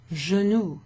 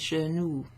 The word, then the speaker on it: genou: Now the oo sound is an O and a U. Oo. Remember, if it was just a U, it'd be U, U. genoux, but it's genoux.